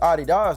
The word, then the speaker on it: Adidas: You know, for years, I thought this dude was just calling the shoes Adidas to be funny. And I used to say it all the time just to be silly, until I realized that was actually the correct way to say the name of the shoes.